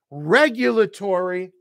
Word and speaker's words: regulatory: synergy, energy, synergy, tombstone, regulatory with the stress on that first syllable, regulatory, and let's not forget where I am, we have 60 seconds left of February.